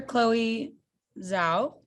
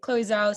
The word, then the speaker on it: Chloe Zhao: How did director Chloe Zhao, is that how you pronounce it? Chloe Zhao's style of filmmaking enhance the experience for you?